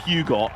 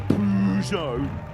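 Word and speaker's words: Peugeot: the purzo in front what the pugot as uh i've known people say it well the plugin as americans say incorrectly love the americans but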